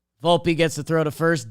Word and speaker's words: Volpe: gets it to Vault pronounce the E Volpe gets to throw to